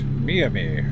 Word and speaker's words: Miami: the border um thanks they they say it's me and me and I hate it did you just call it Miami yes because it's spelled Miami and I went there